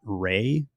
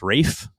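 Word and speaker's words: Ralph: did that podcast that his name is not Rey, it's Rafe. And so I was like mispronouncing I think in that podcast, but of course since have learned that he pronounces his name Rafe and it's Wraith Fines and no one ever says both Fs.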